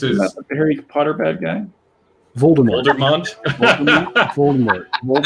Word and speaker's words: Voldemort: not that this is Harry Potter bad guy Voldemort vmont vort V vmont sounds like wine better because it's like Vermont but vmont vmont vort you pronounce it Voldemort Voldemort yeah V it's a v Voldemort it's